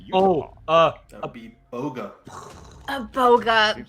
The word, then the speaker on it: Boga: That would be Boga. A boga. Seems like I did a Yeah. pretty good job pronouncing that.